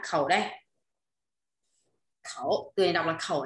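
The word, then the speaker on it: 口: Khẩu, từ này đọc là khẩu nhá.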